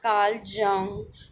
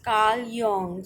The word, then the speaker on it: Carl Jung: the pronunciation is not karl jung but is it is karl yong so jay is pronounced as y so karl young's theory of personality now